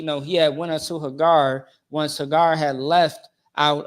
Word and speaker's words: Hagar: was telling you know uh haar all right so or Hagar is how you say it okay so with that